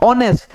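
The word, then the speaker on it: honest: जैसे कि ऑनेस्ट, तो जैसे कि ऑनेस्ट जो होता है, ऑनेस्ट पढ़ाता है, ऑनेस्ट एच आता, क्या पढ़ाता है ऑनेस्ट, यहाँ पे क्या है एच साइलेंट हो जाता है।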